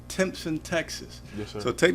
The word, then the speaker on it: Timpson: But we always like to start at the beginning, and I think it's pronounced Timpson, Texas.